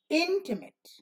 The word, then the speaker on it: intimate: metals and they made when it's intimate intimate yeah this is the accented syllable the red one so intimate the unaccended syllable made is short intimate intimate intimate about the duration and the loudness will be lower intimate now words like spoonful